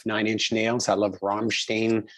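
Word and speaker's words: Rammstein: inch nails i love ramstein or rahm stein however you want to pronounce it but you know i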